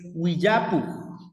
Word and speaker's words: willapuk: Es Willapuk, Willapuk con doble L, Willapuk con W, I, doble L, A, P, U, K, Willapuk, Willapuk.